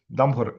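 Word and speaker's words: Damgård: От тому MD MD MD хоча насправді дія повинно бути от ее Дамгор, якщо що, данець, бачите цьому, а в кружечку це таких легендарна літера, яка читається як о.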